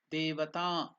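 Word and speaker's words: devatā: D, E is de, devata, ta is also elongated, it is dirgha.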